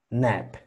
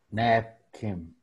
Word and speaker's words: napkin: Aunque es una AE, tiene que sonar A. Puedes pronunciarme nap. Napkin.